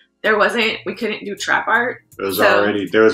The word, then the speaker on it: TRAPXART: that the other day x is silent in the trap art but right yeah right